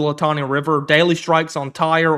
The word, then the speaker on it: Tyre: Daily strikes on Tyre or Soor, if you're Arabic, that's how you say it.